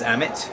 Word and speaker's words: Amit: spell it for me and tell me what you do so my name is amit spelt amit i'm the ceo of talify it's